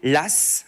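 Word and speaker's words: Law: En France, on va faire confiance à un banquier la. Alors ça s'écrit L A W mais on le on le dit bien de cette façon la et c'est en fait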